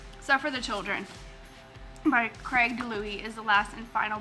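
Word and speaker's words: DiLouie: and it is Suffer the Children by Craig DeLuey.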